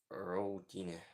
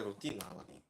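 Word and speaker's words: routine: ты делаешь учу английский роутіне роутіне як воно читається Роу тіне це рутин рутиін rtin ти а Op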